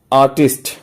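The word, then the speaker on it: artiste: आर्टिस्ट वन who practice आर्ट, कलाकार जो होता है, और ये जो है आर्टिस्ट, प्रोफेशनल आर्टिस्ट जो बोलते हैं उसको आर्टिस्टे बोलते हैं, आर्टिस्टे।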